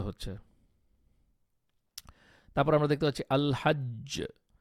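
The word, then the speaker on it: الحج: তারপর আমরা দেখতে পাচ্ছি আল হাজ্জ আল হাজ্জ আল হাজ্জ এই জিমের উপরে কিন্তু অনেক ভালোভাবে এফর্ট দিয়ে আপনাকে কলকলাটা উচ্চারণ করতে হয়েছে তারপর ধরেন আল হাক্ক আল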